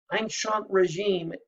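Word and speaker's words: ancien régime: the old regime remember the way they say it is ancient regime a ncie in ancient without the letter to omean regime spelled the same way that's the old way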